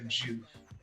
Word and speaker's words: Joof: Yeah, and the last name is like the word poof, but with a J, so Joof. Joof.